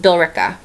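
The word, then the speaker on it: Billerica: here's the next one all right that is pronounced B Raa okay all right here's another one all right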